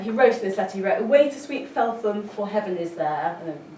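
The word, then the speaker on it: Felpham: London for phelam I've recently discovered it's not pronounced phelam in West is in fact pronounced falam um and he anyway got Blake away and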